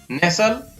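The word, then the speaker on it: nestle: शब्द के बाद अंत में STLE या STEN हो तो टी साइलेंट रहता है। इन शब्दों को यहां पर पढ़ेंगे, हसल, बसल, आप भी मेरे साथ बोलते रहें, बसल, नेसल, विशन, वेरी गुड, आसन,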